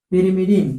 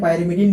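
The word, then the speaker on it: pyrimidine: पहला क्या होता है आपका पेरिमिडीन, पेरिमिडीन, ठीक है, या पायरिमिडीन भी बोल सकते हैं, पेरिमिडीन या पायरिमिडीन, है ना। इसका स्पेलिंग थोड़ा मिस्टेक है तो यहाँ पर क्या रहेगा आपका पीवाई, पायरिमिडीन, ठीक है।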